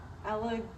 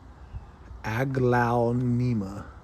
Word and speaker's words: Aglaonema: This is a Allegonia? Allegonia? How do you say that word? Aglaonema. Aglaonema.